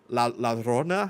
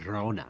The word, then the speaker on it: Llorona: They deal with La Rona. How do you pronounce that? The double L at the beginning La of it. Llorona. Yeah, they deal with that. They Llorona.